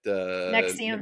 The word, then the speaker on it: Nexium: about the Nixium. Is that how you say it? Nexium.